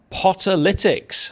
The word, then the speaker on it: Potterlytics: delighted to welcome from Potter litics have I pronounced that correctly George you have yes well done you've got the awful pun out there so it's like analytics but for Stoke that's exactly right Y